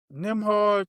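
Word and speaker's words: Nembhard: Cuz it's Is it Is Nimhard even on the Pacers then? Am I saying that wrong? Yeah. You saying it right. So, it's Yeah, he's on there. Nimhard.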